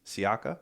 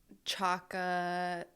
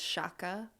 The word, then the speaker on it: Siaca: Chaka, I don't know. Some weird stuff, but Well, whoever said Chaka is an idiot because it's actually pronounced like that because it comes from Italy. So it's Siaca.